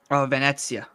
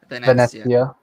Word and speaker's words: Venezia: Is it Venezia? VEN. Venezia. Venezia. Like Venice. And that's your Just think last of game. it like Venice.